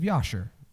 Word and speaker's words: Jasher: in the book of Yasher. Jasher, maybe it's spelled with a J, but the Hebrews would have pronounced it with a Y sound.